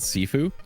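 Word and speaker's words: Sifu: you should check it out too it's called sefue and it's a fighting game it's like a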